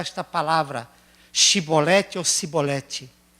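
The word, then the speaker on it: Shibboleth: Shibolete ou Sibolete? Porque quando o efraidita chegava lá e falava Sibolete, qual é a lição que nós aprendemos?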